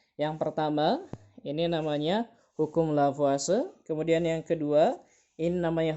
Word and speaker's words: Lavoisier: dan Hai hukum lavoisier biasanya dibacanya lavase ya hukum lavoisier ini hukum lavase meskipun tulisannya follow vierta biasanya orang bacanya itulah puasa gitu ya kayak orang Italia itu oke eh ini